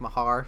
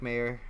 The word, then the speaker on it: Mayer: I should apologize too because I kept on thinking in my head it was Mike Mahar, so I wrote it out like that phonetically, and he corrected me. Sorry about that, Mike. It is Mike Mayer. I don't know how much sorry we should feel about it though, because he taught me how to pronounce his last name by telling me about Mayer the singer.